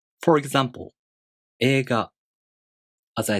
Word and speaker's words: 映画: For example, 映画. As I said, the E long vowel is represented by I. 映画.